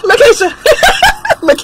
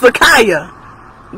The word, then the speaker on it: Laaya: ask for exactly okay Lisha I'm sorry is it laaya it's laaya girl I can't see